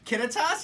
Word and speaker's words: Kittitas: Puyallup oh my god Kenneth toss kid yeah Kittitas yeah yeah I think I probably saw that